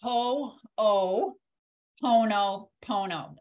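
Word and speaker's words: Hoʻoponopono: around the world um in Hawaiian and it's pronounced Ho-Oh oh no Pono and it's all those words are together now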